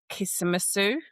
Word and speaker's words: Kismattu: And also just the whole sort of infrastructure of your Kismet Sue. Is that how you pronounce yeah.